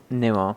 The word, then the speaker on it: Newell: Newell. Oh. Okay. What do you think? I quite like it. Okay. I wasn't overwhelmed by it. So for context, Alex Newell is was an actor in Glee, so played